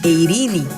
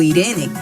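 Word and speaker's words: εἰρήνη: ahí nos encontramos con la palabra eirini o Irene se puede pronunciar de diferentes formas Pero se refiere a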